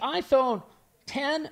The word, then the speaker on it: iPhone X: read is it the iPhone 10 or is it the iPhone x10 it covered this on a previous show he said it's the iPhone X I said really but people say it's pronounced 10 I said I said